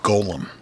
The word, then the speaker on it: Golem: was something called a Golem g o l e m okay and I and there's you mentioned to this to me yeah there's pretty close pronunciation exactly how it's said in Yiddish too but anyhow what